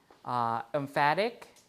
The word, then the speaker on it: emphatic: Emphatic, the stress is here, so we have a full vowel value, emphatic.